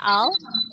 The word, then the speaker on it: I'll: Nah, terus, okay, I'll pick you up. Okay, I'll, nih dibacanya I'll, bukan ill.